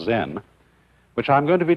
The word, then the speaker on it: Zen: this experience is dominant Zen of course is a Japanese word and uh it's spelled Zen and that is the Japanese way of pronouncing the Chinese word chan and this in turn